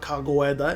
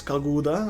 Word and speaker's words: Kaguda: It's not Kagoeda, it's Kaguda, I think.